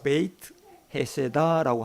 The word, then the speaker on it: 베데스다: 양문 곁에 있는 베데스다라고 하는 이 연못으로 발걸음을 옮기십니다. 베데스다, 헬라어의 발음상이 이렇습니다. 베이트 헤세다라고 합니다.